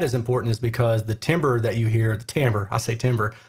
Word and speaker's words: timbre: important is because the timbre that you hear, I still can't say it right. It bothers me that it's spelled T-I-M-B-R-E. Definitely looks like timbre or timbre. Spanish Joe knows what I'm talking about.